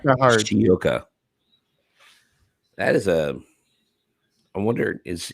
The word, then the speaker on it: Higashioka: Kyle Higashioka. Higashioka. No, that's not how you say it. Higashioka. Higashioka. It's not that hard. I keep on trying to put an R in it. There's no R in it, Eric.